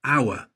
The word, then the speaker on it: hour: Sometimes a consonant is silent. For example, hour.